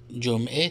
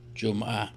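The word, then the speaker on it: جمعه: جمعہ، دیکھیں ایرانی جمعہ تلفظ کرتے ہیں، لیکن دوسرے جگہوں پہ افغانستان، تاجکستان میں اس سے ملتے جلتے الفاظ کو ہم زبر سے ہی تلفظ کرتے ہیں، جیسے اردو میں ہوتا ہے جمعہ یا جمعہ.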